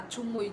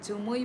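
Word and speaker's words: chumui: में वाताई क्लाउड को जुमुई हां चुमुई चुमुई हमारे लैंग्वेज में चुमुई अच्छा जुमुई बोलते हैं ओके हमारा इधर से स्पेलिंग कैसे लिखा सी एच सी एच यू एम यू आई चुमुई से ये सिमिलर है आप लोगों का ज है हमारा च है अ ओके डअ ओके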